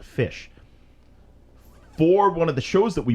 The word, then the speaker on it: Phish: Now, there's a band Fish that we like. Phish. That's how they spell it. Fish.